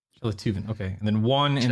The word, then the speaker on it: Sjeletyven: How do you pronounce the full name? Shelativan. Shelativan.